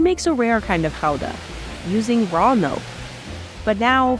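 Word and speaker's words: Gouda: a year more than half of it is guda or Hala as it's pronounced here Fran ctin is a Seventh Generation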